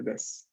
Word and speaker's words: です: La U del des no se pronuncia. La dejamos así en el aire, ¿no? Decimos solamente des, como si no hubiera U.